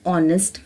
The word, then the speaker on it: honest: silent and Ono and honest man so just notice the pronunciation of these words in these three words the letter H is silent children do you know